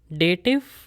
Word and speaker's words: Dativ: So make sure when you're pronouncing these words, there is F sound at the end. Nominativ, Akkusativ, etc.